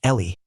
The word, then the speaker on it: Elle: She insists it's pronounced Ellie, "But she likes the fancy spelling."